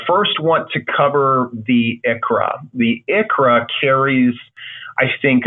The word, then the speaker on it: ICHRA: throughout the webinar today pronounce it as Achra all right it's not me coughing it's me just saying the acronym for individual coverage HRA and then the sixth